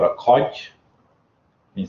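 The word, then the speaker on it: kodj: So this one's called a codge.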